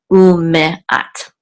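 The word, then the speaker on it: וּמְאַת: Some people sound this, some people don't. I don't remember what the rule is regarding what is correct, but I checked two audio Torah sources, and they did pronounce it. So it's ume'at. And this means and 100, okay?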